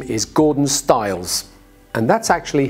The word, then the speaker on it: Styles: My name is Gordon Stiles, and that's actually how you say my name.